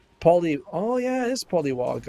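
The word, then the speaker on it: Polliwog: Oh yeah, it is Polywog. I thought it was Poliwag, like the Pokemon.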